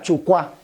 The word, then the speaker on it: Chupá: La luna sería Chucuá. Se escribe Chupá, pero se pronuncia Chucuá.